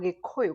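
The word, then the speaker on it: Gĩkũyũ: watched the previous episode I come from Kikuyu or Goyo. Kikuyo is the name the colonizers gave us because they couldn't be able to pronounce Goyo which means a big sycamore or a fig tree.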